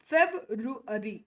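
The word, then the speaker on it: February: ಇನ್ನೊಂದಿಷ್ಟು ವರ್ಡ್ಸ್ ಅನ್ನ ನೋಡೋಣ ದಿಸ್ ವನ್ ಫೆಬ್ರವರಿ ಫೆಬ್ರವರಿ ಅಲ್ವಾ ಹಿಂಗೆ ಅಲ್ವಾ ನಾವು ಇದನ್ನ ಹೇಳೋದು ಫೆಬ್ರವರಿ ಅಲ್ವಾ ಸಿ ಲೆಟ್ ಸ್ ಫೆಬ್ರುವರಿ ಫೆಬ್ರುವರಿ ಫೆಬ್ರುವರಿ ಫೆಬ್ರುರಿ ಫೆಬ್ರುರಿ ಫೆಬ್ರುರಿ ಅಷ್ಟೇ ಹೆಂಗೆ ಹೆಂಗೆ ಬರೀತೀವಿ ಇದರ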